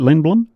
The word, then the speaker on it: Lindblom: Is that how you say it, Lindblom?